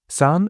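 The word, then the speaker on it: сон: Son is the clearest example since the letter o in that word is pronounced as a.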